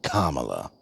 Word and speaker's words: Kamala: Kamala if you all on the right can pronounce ver re ramaswami you all can damn well say Kamala kamla got 73 million votes Trump got 76